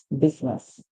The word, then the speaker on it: business: again we have is so the I here is silent so here B business business so whenever you spelling